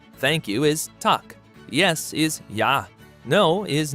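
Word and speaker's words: Takk: hello and Icelandic is pronounced Hollow thank you is talk yes is yah no is nay goodbye is bless 14.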